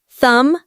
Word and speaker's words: thumb: The H is silent. Say it with me, P. O N E S T. Honest. Remember, knife, thumb, honest.